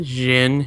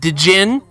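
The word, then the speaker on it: Djinn: Well, I'm also the kid that didn't understand silent letters and words sometimes, like in Golden Sun with the Jin. It's actually, I always called Dijin.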